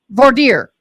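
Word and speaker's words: voir: so we're going to voer is that how they say it V vorer that's it they're GNA get his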